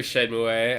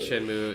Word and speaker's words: Shenmue: I've heard of Shenmue.